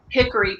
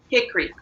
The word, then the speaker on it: hickory: while you understand that it's not like a hickory tree you have to say hickory it's not three syllables in north carolina it's two gotcha okay like when